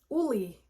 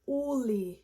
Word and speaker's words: Ole: Oh my gosh, Ole Henriksen, Uli. Actually, that's how you pronounce it, Uli.